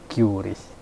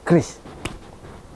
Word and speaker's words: QRIS: Tapi di sisi lain itu salah. Itu kan orang Inggris. Kita pakai dong pelafalan sesuai konteks orang-orang Indonesia. Q bagi orang Inggris itu kita sebut key. Jadi cukup kita melafalnya dengan Kris. Tidak perlu mengikutin orang-orang atau ejaan asing. Maka kita sebut Kris.